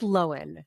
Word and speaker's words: Lohan: It's pronounced Lohan. Remember when she corrected all of us on a TikTok recently? Okay, it's not Lindsay Lohan.